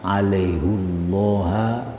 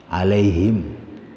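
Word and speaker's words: عليهُ الله: ada kata alaihullaha fasayuktihi kata alaihu memang kalau kaidah bahasa Arab damir Hu itu kalau jatuh setelah Iya maka bacanya Alaihi alaihim Bukan alaihum tapi alaihim tapi untuk ayat ini bacanya sejak mushaf Utsmani alaihullaha fasaytihi maka edaran al-qur'an yang diterbat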